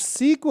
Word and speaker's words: SQL: SQL, pronounced sequel.